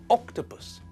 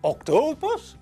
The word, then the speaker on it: octopus: which tells us that the stress in the word is on the first syllable. It's pronounced octopus, not octopus and not octopus.